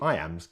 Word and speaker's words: iamb: word i am is pronounced just like the phrase i am now let's expand that